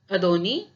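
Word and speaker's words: Ndoni: One day he goes to town of अदोनी but does not return, और ये नदोनी लिखा हुआ है लेकिन इसका जो प्रोनाउंसिएशन है वो अदोनी है।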